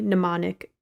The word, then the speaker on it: mnemonic: 44 across 1995's johnny mnemonic eg and it was silent m movie because the m and mnemonic is silent um so then 28